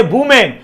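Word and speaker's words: woman: ये वुमेन का मतलब यहां पर सिंगुलर है और इसका प्लूरल होता है वीमेन, याद रखना, ठीक है। तुम लोग प्रोनाउंसिएशन पर ध्यान दो। इसको पढ़ते हैं वुमेन, क्या पढ़ते हैं बेटा, वुमेन पढ़ते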